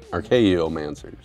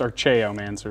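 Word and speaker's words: Archaeomancer: with my answers man archaeom answers whatever I'm gonna get two planes are you pretty sure it's pronounced our Cheo man sir archeo really yeah play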